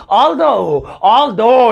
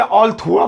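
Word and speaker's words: although: आओ अब नेक्स्ट वाला भाई देखें, और भैया नेक्स्ट वाला है ऑल्दो। इसे ऑल थुआ मत पढ़ देना, ये स्पेलिंग देख के कभी ऑल थुआ ऑल्दो लिखा है वो ऑल्दो का हिंदी में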